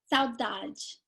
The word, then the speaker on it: Saudade: point to make sure I know how to pronounce the title of your film, and it is Saudade. Saudade.